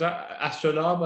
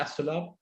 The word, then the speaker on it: Astrolabe: It's pronounced correct as Astrolabe as opposed to Astrolabe.